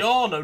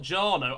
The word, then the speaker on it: Jarno: It's Jarno, not Jarno.